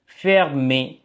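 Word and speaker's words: fermé: மூடப்பட்டது ஆங்கிலத்துல க்ளோஸ்டு என்று சொல்ற மாதிரி பிரெஞ்சுல வந்து ஃபேர்மே ஃபேர்மே என்று வாசிக்கணும் ஓகே மூடப்பட்டது அடுத்து ஆண்டு வருடம்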